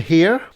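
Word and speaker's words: Herre: three is hot and here no no sorry hot and her because it's spelled h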